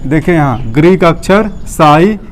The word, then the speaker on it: psi: देखें यहाँ ग्रीक अक्षर साई, या अंग्रेजी में PSI लिखते हैं, साई, जहाँ P साइलेंट होगा।